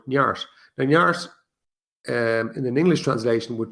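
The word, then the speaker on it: neart: an irish word called nyart n-e-a-r-t pronounce this an irish gaelic word nyart in an english translation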